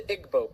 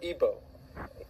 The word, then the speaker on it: Igbo: Another area in Africa you have uh something big happening is in Nigeria you have the Igbo people or Ibo pronounced either way.